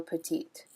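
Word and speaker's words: petites: petite and feminine plural petite notice how in both cases when we add an s we don't hear the s so there's a couple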